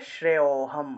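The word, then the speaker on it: শ্রেয়োঽহম্: শ্রেয়োহম ঠিক আছে শ্রেয়োহম আপনি এখানে মনে করেন যে অই আসলে এখানে ও টাকে একদম ঢুকিয়ে ফেলছেন মাথার মধ্যে এজন্য আপনি অচ্চারণ করতেছেন অ মনে করেন যে এখানে নাই তাহলে শ্রেয়োহম শ্রেয় শ্রেয় অর্থাৎ শ্রেয় থেকে একটু টান দিবেন তারপরে হম উচ্চারণ করবেন তাহলে শ্রেয়োহম শ্রেয়োহম বুঝতে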